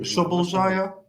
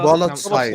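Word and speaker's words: Szoboszlai: I can barely pronounce after. Right. You can barely say the English player's name. Shoboljaya. Let me Google. Spolotsai.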